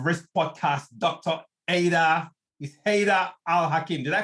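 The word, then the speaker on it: Haidar al-Hakim: this call of risk podcast dr ada with haida al-hakim did i pronounce it right yes sir you have i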